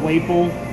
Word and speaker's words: Waple: The Waple, like maple, the sign.